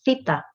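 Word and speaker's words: θήτα: latin alphabet this is the theta the theta i has the sound of the th basically if i can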